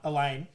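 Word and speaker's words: Alain: Nah, Elaine. Elaine, sorry. Well, like, it's spelled Elaine. A-L-A-I-N. No, I think that's how they pronounce it.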